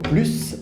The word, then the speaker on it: plus: pas le s d'accord en général on ne prononce pas le s quand il y à un adjectif après par exemple quand on va dire plus petits plus grand ou plus sympa par exemple ok attention